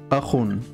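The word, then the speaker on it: أخٌ: Et ici, je vais prendre le mot Akhun, qui veut dire un frère. Hop. Akhun. Akhun. Donc, khun, donc, ici il y a deux dammas, c'est pour ça que je prononce khun.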